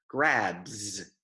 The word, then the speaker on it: grabs: Letra B faz vibração, então o plural vai ser grabs. Não é grabs, grabs. Word faz vibração, tá?